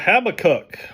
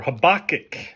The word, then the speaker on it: Habakkuk: All right, let's talk about Habakkuk or Habakkuk, as others pronounce it.